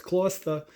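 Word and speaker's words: Gloucester: Kloster? That's how you say it. It's Kloster.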